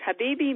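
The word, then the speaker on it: حبيبي: I'm sure knows is Habibi. And the first H, by the way, is pronounced ha. Think of sighing about your loved one. Ha, and you have the right sound. It's Habibi means my love, talking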